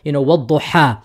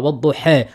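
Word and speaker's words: والضحى: So for example, wad-duha, or you can do imala sughra, wad-duha, or you can do imala kubra, wad-duha. You can do it all of these three types, right?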